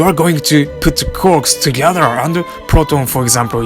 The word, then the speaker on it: quark: quarks for master mark and there were three corks in his model anyway that's the term that